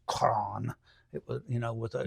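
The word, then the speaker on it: Croghan: want to pronounce it Krogan c r o g h n but it's a Gaelic name so it would have been pronounced Kon it you know with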